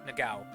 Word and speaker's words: Nagao: You can roll a d20 to understand, to try and remember the name Nagao. Or Nagao. Yeah, Nagao. That's how it's pronounced.